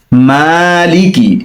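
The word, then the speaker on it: مالك: মালিকি, এখানে মা টান হবে, লিকি, অনেকে লে কি, লে পড়ে, লে হবে না, লি কি।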